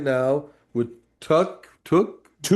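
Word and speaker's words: tuque: Tuk. Touque. It rhyme. It rhymes with Duke.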